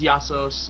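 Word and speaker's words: Ἰησοῦς: I mean uh pesus Jesus actually Greek name is yassos you know yeah yassos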